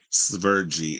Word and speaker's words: Sverige: Sverige is how you pronounce the country in the Swedish language.